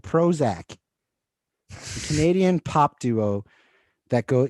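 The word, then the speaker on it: Prozzak: this movie wow okay it's spelled p r o z z a k with the little emblem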